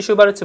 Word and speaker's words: 슈바르츠: 자, 코시 슈바르츠 부등식. 슈베르트라고 읽었네.